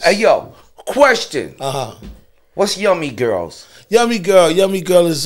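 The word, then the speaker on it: Yumii Gurlz: Yeah, and it's spelled Y-U-M-I-I, girls are spelled G-U-R-L-Z. You know what I'm saying? So it's Yummy Girls.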